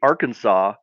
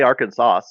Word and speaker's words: Arkansas: But what happens to that S? Cuz you don't say Arkansas.